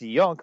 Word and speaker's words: Junk: Like my last name is pronounced Yunk, but I stopped correcting that when I was 13 years old. So I'm not getting away from being called Junk at any time in my life.